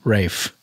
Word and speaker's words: Ralph: Rafe's rewards card.